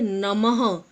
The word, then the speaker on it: नमः: ये क्या होता है, इनका उच्चारण हम ह की तरह करते हैं। मतलब इन्हें ह की ध्वनि में बोला जाता है। जैसे नमः, प्रातः, हम बोलते हैं ना, छः, नमः, प्रातः, इस प्रकार।